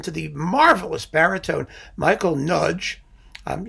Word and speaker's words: Nagy: the marvelous baritone michael nudge um you know it's hungarian nagy nudge is how that's pronounced michael nudge baritone with